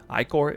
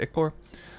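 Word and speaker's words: ichor: as eldritch ickers that's how you say it icor icor that's a big deal too many people are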